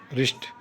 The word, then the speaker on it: wrist: रिस्ट, रिस्ट, WRIST, W silent होता है, रिस्ट towel.